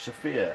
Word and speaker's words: Sophia: Sophia. Emphasis is on the O, regardless of how you spell it.